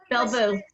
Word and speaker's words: Belle Vous: Belle Vous.